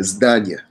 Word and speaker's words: zdania: No, Zadania is a problem. Oh yeah, Zdania. Yeah. Zdania or what? You said it right.